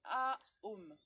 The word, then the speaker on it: Om: Le son OM qu'on dit A-OM. C'est A-OM. C'est important.